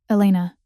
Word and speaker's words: Elena: Elena. He said it correctly, the Italian pronunciation rolling off his tongue naturally.